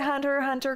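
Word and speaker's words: Hunter × Hunter: context there's this show it's called Hunter Hunter there's a silent X in the middle would you say hunter hunter correctly not around me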